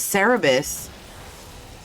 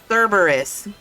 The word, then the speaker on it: Cerberus: How did you pronounce that? Cerebus? Cerebus? Did I say it wrong? Cerberus? Cerberus? Cerberus? Bruh, I speak 3 fucking languages. If I fuck up one, I'm sorry. Cerberus. Got it.